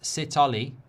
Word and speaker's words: Sithole: Spartans says that it's pronounced Sithole, and South African players all play at altitude as well.